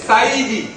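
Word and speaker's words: Saïdi: a existé là encore c'est la mal prononciation des Bob avec un peu leapalo qui amené sakidi sinon c'est Saidi qui veut dire AR monsieur bon les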